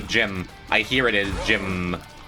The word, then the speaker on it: Jimb: I hear it as Jim. It's a silent B, but it extends the M.